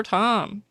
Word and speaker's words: Thom: And I do like that when I asked for pronunciation tips, Tom did write it's t h o m but the h is silent.